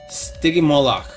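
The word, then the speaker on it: Stygimoloch: just like t-rex and if I'm not mistaken it's pronounced sticky Moloch so we've got that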